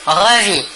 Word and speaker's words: revit: Je revis, tu revis, il ou elle ou on revit. Toujours la même chose, le S et le T final de la terminaison ne se prononcent pas mais s'écrivent.